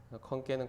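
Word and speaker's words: ขอนแก่น: 여기 컨깬이라고, 태국말로 건깬이라고 합니다. 태국어는 성조가 있어요. 그래서 높낮이가 있기 때문에 읽을 때 컨깬은 건깬이라고 읽고요.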